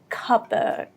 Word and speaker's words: cupboard: you may already know, British people do not pronounce R when it's not the stressed part of the word, like here. They would just say the A part a little bit longer. For example, here it would become cupboard, cupboard. Yeah, no R you would hear here. So British is cupboard, cupboard, and American would be cupboard. You would hear the R here clearly, more clearly in fact, cupboard, which is a type of cabinet.